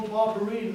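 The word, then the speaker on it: Barbarin: from Paul Barbara, and everybody calls him Paul Barbara. His real name is Paul Barberine, that's how it's pronounced down in Norway.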